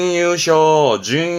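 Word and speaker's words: 優勝: 엔 특히 그렇습니다만 그렇죠 아시겠죠 결이네 그럼 결승입니다 발음은 케쇼 케쇼 그렇죠 이건 우승이네 그러 준우승에 유쇼 쇼처럼 세 글자로도 특히 앤투 때는 많이 보여지기도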